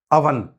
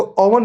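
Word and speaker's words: oven: Mother Monday money month अवन इसको ओवन नहीं बोलेंगे। क्या बोलेंगे? अवन अवन अवन शवल, शम और वरी।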